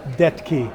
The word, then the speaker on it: Detke: Like Travis, but it's pronounced correctly. Okay. And your last name? Detke, Dettke.